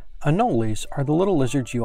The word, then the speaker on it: anoles: In Florida, everyone has called them anoles, with three syllables. Other people call them anoles. We're in Florida. They're anoles.